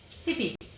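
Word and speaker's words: city: सी के बाद वाई आया तो उसका साउंड सी के बाद इ आया तो इसका साउंड यानी सीप और सी के बाद आई आएगा तो इसका साउंड हो जाएगा सिटी।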